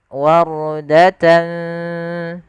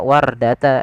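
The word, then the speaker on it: وَرْدَةً: yaitu ra yang dibaca dengan bacaan ra tebal, bukan dibaca wardata, yaitu huruf ra-nya tipis tapi tebal. Wardatan kaddihan.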